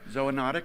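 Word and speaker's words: zoonotic: pronounced it for me so a notic ZOA notic and that is pointing toward a really big idea that you're exploring here which is right as o notic disease is a disease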